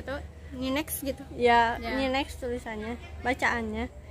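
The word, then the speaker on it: NYNEX: DH belell atlantick n y next Ang gitu bacanya G tahu ninex gitu Iya iniinex tulisannya bacaannya pada tahun 1995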